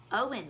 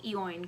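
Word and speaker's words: Eoin: is Artemis Fowl by Owen Colfer I did not know how to pronounce his first name until I literally looked on Goodreads I've been saying yoanne colfer because it's spelled like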